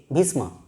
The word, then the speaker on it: ভীষ্ম: বি এইচ আই এস এম এ ভীষ্ম এরকম ভাবে যদি উচ্চারণ করি তাহলে বোধহয় এখানে তোমাদের